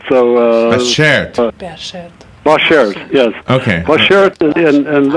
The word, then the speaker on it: bashert: The word is pronounced Bashert. It's a Yiddish word. So Bashert.